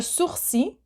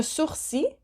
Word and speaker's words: sourcil: have the eyebrow, le sourcil. So the last L, you do not pronounce it. Eyebrow, le sourcil.